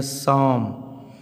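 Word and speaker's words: psalm: फिर यहाँ लिखे हैं साम, देखिए पी के बाद यस आ रहा है तो इस पी का उच्चारण क्या हो जाएगा, साइलेंट।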